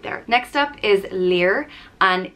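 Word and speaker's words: Lir: there next up is leer and it's pronounced like leer and is spelled l-i-r and lear was known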